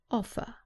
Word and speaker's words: offer: of vowel sounds offer remember that in British English the r at the end is not pronounced so the last sound is an a offer offered another example with